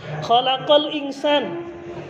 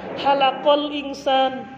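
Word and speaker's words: خَلَقَ الإِنْسَان: Allah yang menciptakan manusia kita baca dengan pakai h halal Insan ya Allah yang mencukur manusia hati-hati dengan pengucapan mengganti huruf dengan huruf yang lain yang tidak boleh hukumnya haram kesalahan yang fatal dan bisa merubah arti yang kedua adalah harokat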